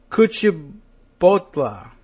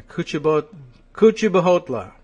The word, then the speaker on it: Kuchibhotla: Srinivas Kuchibhotla. I'm getting a Kuchibhotla. But do you think it's Bahotla with the extra H? I mean, there's an H in there, but it might be Kuchibhotla.